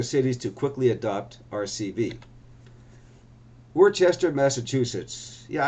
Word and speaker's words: Worcester: Yeah, I know some people say it Worcester, but if you want to say it Worcester, you should spell it like Wooster to rhyme with Worcester. Rooster, right? I'm going to say Worcester.